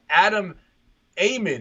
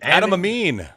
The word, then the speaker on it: Adam Amin: Adam Amin, is that how you say his name? Adam Amin. Adam Amin.